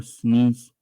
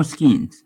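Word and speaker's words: Skenes: Actually, Paul Sneeze. Not Sneeze. I can't pronounce the name. Yeah, Paul Skeens. I said it right.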